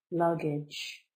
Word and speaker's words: luggage: you can withdraw money luggage a noun two-syllable luggage the stress is the first luggage luggage bags suitcases etc that